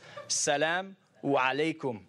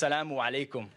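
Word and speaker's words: As-salamu alaykum: welcome to do that but it's Salaam alaikum okay in Arabic they have a cup they have some some alphabets that are difficult some of their pronunciation some vowels and one of them is the eye ok so it's salaamu alaikum ok and literally you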